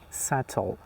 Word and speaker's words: subtle: But this one is subtle. Doubt death. Sometimes you say, "Do you doubt me or do you have doubts?" These were some examples that the B letter was silent in them.